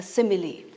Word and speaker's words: simile: So the first one is a simile. We pronounced it as simile and not simile.